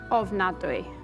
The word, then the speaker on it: ofnadwy: Ofnadwy.